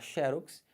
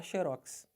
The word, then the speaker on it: xerox: Você pode falar xerox, mas se você quiser, você pode falar xerox. Os dois estão corretos, né?